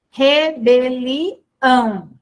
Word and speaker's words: rebelião: Rebelião é uma palavra oxítona, certo?